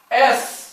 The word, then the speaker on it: S: एस, यस नहीं होता। अगर प्रोनाउंसिएशन पे आप गलत किए तो ये आपका बिल्कुल गलत करवा देगा। इसको बोला जाता है एस।